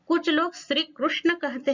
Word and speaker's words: कृष्ण: कुछ लोग श्री कृष्ण कहते हैं, कुछ लोग श्री कृष्ण कहते हैं, परंतु संस्कृत का उच्चारण है उसमें कृष्ण, ये सही है, दोनों सही हैं, परंतु संस्कृत से ये तत्सम शब्द आया है इसलिए कृष्ण इसका उच्चारण करना चाहिए।